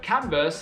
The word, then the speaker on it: Converse: The word Converse has become a common noun. Next time you put on your sneakers, pronounce their name right.